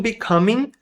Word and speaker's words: becoming: From becoming. From becoming. From becoming. A gente não lê este G.